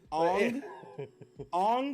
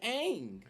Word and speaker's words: Aang: Ong, my guy. His name is Aang. How do you just rewrite somebody's name pronunciation? Jesus. Right? It's 2 A's, an N, and a G. Aang.